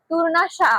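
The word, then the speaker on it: Tournachon: वरून कट टू कट त्यानी टूर्ण घेतले पण ते टूरणाशा अस आहे ठीक आहे त्याचा प्रोनन्सिएशन तशा प्रकारे होत असतं जे एफ टूर्णाश आणि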